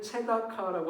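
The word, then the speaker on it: צדקה: 공의를 체다카라고 하는데 부르짖음은 체아카라고 해서 거의 발음이 비슷한 언어 유희를 사용하는 본문입니다.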